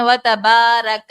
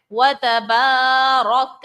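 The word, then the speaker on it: تبارك: اور رو جو ہے، رو پر ہم نے دیکھا زبر ہے، اور اس صورت میں ہم رو کو پر پڑھتے ہیں. یہاں پر ہم نے رو کو پر بھی پڑھنا ہے. بعض خواتین پڑھتی ہیں وَتَبَارَكَ اسْمُكَ، بالکل مجہول طریقہ. تو طریقہ کار کیا ہے؟ وَتَبَارَكَ اسْمُكَ، رو کو پر پڑھا.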